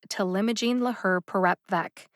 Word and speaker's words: talimogene laherparepvec: generic or non-proprietary name of him logic is telimojin laher perep vek there are two words here let's break them